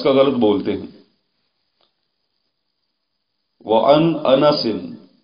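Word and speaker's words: أنس: غلط بولتے ہیں۔ وعن انس، نون کے اوپر فتح ہے، زبر ہے، اس کو یوں پڑھنا درست نہیں ہے، انس، انس نہیں انس، یعنی کہ نون کے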